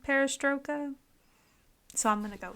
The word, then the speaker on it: Perestroika: Part 2, I think it's pronounced Perestroika.